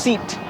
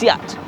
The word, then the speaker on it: SEAT: think this is pronounced seet the ignorance i know it spells it but no it's actually pronounced siat and it's spanish like fc barcelona and your favorite tapas it's owned by the